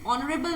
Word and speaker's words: honorable: it is honorable and you pronounce it like although it is a word which starts with a consonant which starts with the consonant but it sounds like vowel it sounds like vowels okay so that is why